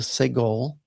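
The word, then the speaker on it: סֶגוֹל: And then the next one, you've got like the 3 little dots here underneath, and that's called a segol, and that is pronounced as E as in better.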